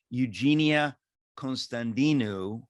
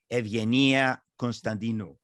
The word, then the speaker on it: Constantinou: Jeannie Constantinou, or as it's properly pronounced, Jeannie Constantinou, or closer to that.